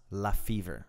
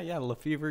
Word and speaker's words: LaFever: The honor of hosting second episode, LaFever. That's right. That's how we pronounce your name. Yeah. LaFever.